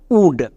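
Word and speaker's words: would: আরেকটি ওয়ার্ড দেখো উড, এখানেও আমাদের OU হস্যকার সাউন্ড দেবে, সো এই শব্দের উচ্চারণটা হবে উড এবং এখানে এল সাইলেন্ট। এই শব্দগুলো ইংরেজি রিডিং পড়তে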